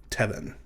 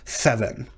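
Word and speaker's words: תבן: Or if you follow the pronunciation that many grammars tell you, theven, like you're speaking with a lisp or something. But like I said, that's not how most modern Hebrew speakers pronounce it.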